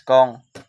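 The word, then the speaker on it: 공: and 1 million so the zero is pronounced by Cong so in Korean zero is kong and number one E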